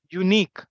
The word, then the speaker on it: unique: look at the difference when I said unique what is the first sound sound that you hear yeah unique why remember understand this